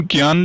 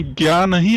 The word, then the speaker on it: ज्ञान: इसका उच्चारण ध्यान करेंगे हम, इसका उच्चारण ज्ञा नहीं, अर्थात क्या पढ़ते हैं? ज्यों, क्योंकि ये ज्या और यहां से बना हुआ है, इसीलिए इसका उच्चारण कैसे करेंगे हम? ज्या, ज्ञान।